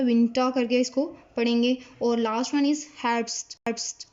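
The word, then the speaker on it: Winter: है, लेकिन इसमें अच्छा खासा जो है वो साइलेंट किया जाता है, विंटा करके इसको पढ़ेंगे।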